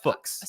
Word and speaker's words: Fuchs: It's like books. Fuchs. You could say it F-U-C-H. There are multiple. There are better ways. You could say it like Fuchs. There's obviously the profane way of saying the word, which is funny, but I don't think it's correct. It's Fuchs.